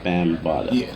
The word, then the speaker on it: Bambahda: I was having a hard time pronouncing the name, so it's Bambahda. Yeah. I tell people it's like African Bambahda, just spelled different.